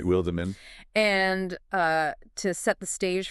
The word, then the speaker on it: Wildeman: And for you listening, that is pronounced Wildeman, just to be precise. Right, Wildeman.